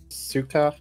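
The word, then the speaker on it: succor: Pronounced suka in that context. Yes, sucker is spelled s u c o r as in to to grant me relief or benediction.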